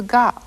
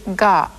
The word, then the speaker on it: が: So if you add these little marks, the pronunciation changes from ka to ga.